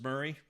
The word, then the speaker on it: Murray: Mur Murray Murray am I am I how do I am I read it right Murray just like Bill Murray maybe I'm saying it wrong I'm not even in